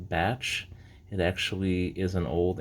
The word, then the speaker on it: Bache: ounce batch silver bar yes that's pronounced batch it actually is an